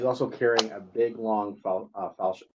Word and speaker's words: falchion: She's also carrying a big, long falchion.